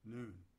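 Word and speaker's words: nun: letter n in hebrew spelled n-u-n but pronounced noon that litter is missing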